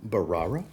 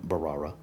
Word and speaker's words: Bharara: another fragrance from from barara I believe is how you say it I believe the H is silent I have hell pronouncing